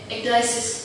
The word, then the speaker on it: ecdysis: How do you pronounce this? Ecdysis? Ecdysis.